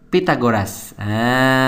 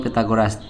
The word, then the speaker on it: Pythagoras: Oke, triple Pythagoras, triple Pytha. Pytha harus gitu bacanya ya.